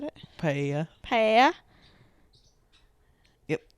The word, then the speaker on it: paella: That'd be National Spanish Paella Day.